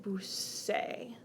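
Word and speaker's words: busqué: to look like this this is pronounced boo say well that's a problem because of the verb is buscar so we don't want the yo form of ebu say that's totally different in order to make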